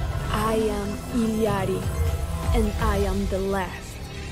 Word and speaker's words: Illari: like what I saw ilyadi yes I ain't butchered I butchered it when I started because you know I went with the basic English pronunciation Iliana that look good okay